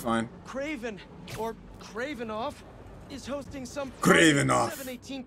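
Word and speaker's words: Kravinoff: It's not Kravenoff. It's Kravenoff. You gotta roll your R's.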